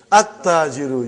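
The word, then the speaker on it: التاجر: At-tajiru. You did not pronounce lam. Why you did not pronounce? Because it is sun letter.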